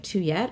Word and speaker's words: Tuyet: all my relatives, and they call me Thuyet, but, like, if I ever meet someone who speaks Vietnamese and they say my name back correctly to me, I am, like, thrilled, like my little heart swells. But also like the pronunciation of like Tuyet, I like and it's fun and I don't mind it. I have no qualms with it as far as sort